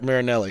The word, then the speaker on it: Marinelli: Marinelli, because I was going to mess it up.